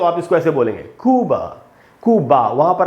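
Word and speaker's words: Cuba: तो इसमें यू में जो ऊ है वहाँ पर ज़्यादा स्ट्रेस है, और ब के बाद आधा अ है, क्योंकि ये ए से खत्म हो रहा है, इसलिए इसको भी क्यूबा ऐसा नहीं पढ़ेंगे। इंग्लिश में की बात कर रहा हूं मैं, इंग्लिश में इसको पढ़ेंगे क्यूब, क्यूब।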